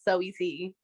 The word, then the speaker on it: Saweetie: Even though I know it's pronounced Sweetie, I like saying the whole name out. Saweetie.